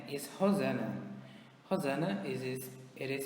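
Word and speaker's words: Rosana: My mother's name is Hosanna. Hosanna is spelled R O S A N A.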